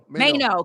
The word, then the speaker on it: Maino: Fabulous Jim Jones, Maino. Is that how you say his name? Mano, because his name is Jermaine.